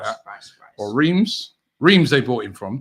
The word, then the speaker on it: Reims: Or Reims. Reims they bought him from. Oh, okay. Rams, as it's pronounced in France.